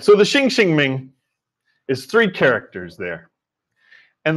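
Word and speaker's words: Xinxin Ming: all right so the shing shing Ming is three characters there and the first two are pronounced the same in English anyway shing shing Ming and boy what a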